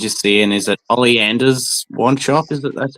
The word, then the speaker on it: Ollivanders: And they're like exactly like the ones you see in is it Olly Anders wand shop? Is it that's how you pronounce it? Ollivanders.